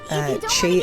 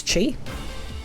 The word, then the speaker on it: Chi: Please let me know if I am saying that wrong, but I'm pretty sure the QI is meant to be pronounced as Chi.